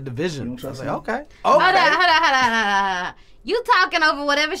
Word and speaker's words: DVSN: know i was like i bet you there's a way to pronounce this and i said division okay you talking over